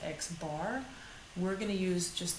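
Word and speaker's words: x̄: over it that's the mean or average it's pronounced x bar we're going to use just the letter m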